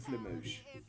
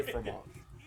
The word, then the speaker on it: fromage: The French pronounce R's. Fromage. So I'm still trying to watch it. R's are pronounced.